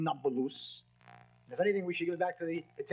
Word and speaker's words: Nablus: The Arabs have difficulty pronouncing a P, so Napulus became Nablus.